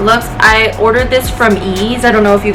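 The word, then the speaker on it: Eaze: It's spelled E-A-Z-E, Ease.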